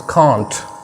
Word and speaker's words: can't: British कांट बोलते हैं और अमेरिकन इसको कैंट बोलते हैं।